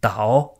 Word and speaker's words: 倒: 摔倒 ce caractère a deux prononciations différentes. Donc soit c'est 倒 comme ici, donc troisième ton, et ça veut dire tomber, mais on le retrouve très souvent avec la prononciation du quatrième ton, 倒.